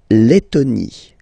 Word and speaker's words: Lettonie: So remember when you've got this E and then a double letter like that, T, T, okay, then you will have to open your E and it will become E, le, Lettonie.